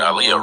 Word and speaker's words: Aaliyah: if you like this movie because they did Aaliyah wrong. Yeah, just Aaliyah. Like Shut the Then they saying her name. Start the movie off by saying her name wrong. Aliyah.